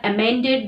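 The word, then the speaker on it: emend: Well, they have amended the document. Well, now next word is amend. E-M-E-N-D. Pronunciation is same, but here is a difference.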